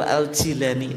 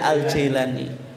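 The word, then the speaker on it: al-Jilani: Abdul Qadir Al Jilani yang betul Al Jilani tapi mudahnya Al Jailani engak bacanya itu aljilani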